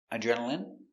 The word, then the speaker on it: adrenaline: So, all of these words are pronounced with the in sound for the i n e. turban adrenaline heroin doctrine determine and urine Let's practice.